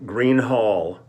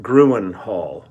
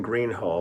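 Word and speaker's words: Gruene Hall: is Thursday February 9th um we uh okay pronunciation um last night we played in Green Hall out here in New Braunfels Texas I was pronouncing it Gruen Hall rather than Green Hall but I would see the spelling and I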